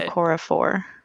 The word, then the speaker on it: Okorafor: Akata Woman How do by you Nnedi pronounce her? Okorafor.